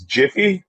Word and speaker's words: GIF: butter nah that was gonna wha what was jiffy was good peanut butter yeah oh yeah it